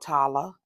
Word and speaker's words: Tala: And I forgot to pronounce this one. This one's called Tala.